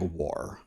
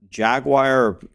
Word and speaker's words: Jaguar: never heard that it's I've heard Jaguar almost always and then some countries I think England say jaguar which is how it's phonetically spelled but nobody says it like that jagar is French okay so pretty much